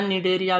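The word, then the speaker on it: Cnidaria: सी silent है इसमें, NIDRIA।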